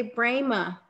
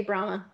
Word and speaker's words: Brahma: You gotta say Brahma. Yeah, I know. I use Louisiana as a crutch. For Louisiana. It's okay. My parents say Brahma.